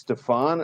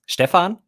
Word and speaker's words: Stefan: actually both are wrong so in Germany I wouldn't introduce myself as Stefan okay it's kind of the German pronunciation but when I do my videos and also in the in the podcast that I do together with Thomas allah-allah I usually say Stefan because I don't know it's more like the English pronunciation of my name but everything's fine everything's